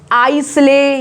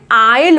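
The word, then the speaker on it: isle: एस साइलेंट होता है जब एल से पहले लिखा जाता है, जैसे कि आइल, इसको आइसले या इसले नहीं बोलेंगे, इसको बोलेंगे आइल बोलेंगे।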